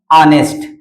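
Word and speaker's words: honest: ऑनेस्ट देखिए यहां पे इसका प्रोनाउंसिएशन जो नाउन है यह किससे लिखा गया है? जो नाउन है वोवेल यहां कंसोनेंट है। लेकिन इसका प्रोनाउंसिएशन हिंदी के वोवेल से होता है। ऑनेस्ट। क्या होता है? ऑनेस्ट। और ऑनेस्ट हिंदी का क्या होता है?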